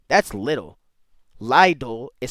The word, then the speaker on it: Lidl: In English, it is normally said I simply little little. in German. Lidle. Leelle. Which pronunciation do you think is more suited, more correct? Okay, so it really is Lidle.